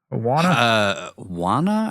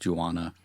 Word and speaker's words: Juana: in the credits as Juana. It's like marijuana, except without the Mary.